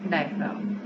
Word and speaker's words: diaphragm: उसके नीचे आएगा डायफ्राम DIAPHRAGM डायफ्राम। इसमें जी जो है वो उसका प्रोनाउंसिएशन नहीं दिया गया।